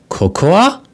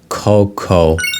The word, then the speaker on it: cocoa: you pronounce this word did you just say coka no we pronounce it like cocoa so this is cocoa and here we have